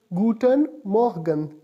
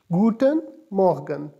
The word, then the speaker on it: guten Morgen: E and M or GE in and it's pronounced is guten morgen guten morgen guten morgen good morning is pronounced yes guten morgen simply good afternoon is pronounced firstly spelled is